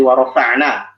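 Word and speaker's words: وَرَفَعْنَا: Kayak misalnya dari warofa'na, yang paling rentan tebal itu nunnya. Ya, jadi dibacanya yang tebal itu hanya huruf ro. Ya kan? Sementara fa ain nun tipis, nggak boleh kita baca warofa no loqawid rof. Kalau semua itu warofa no itu udah tebal.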